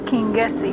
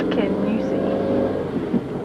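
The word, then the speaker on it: Kingussie: We thought it was King Jessie, but it's Kenusi.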